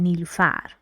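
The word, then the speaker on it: Nilufar: that stressed for example if I want to say my first name I Say ni lufar I put stress on the Lost syllable because in that's what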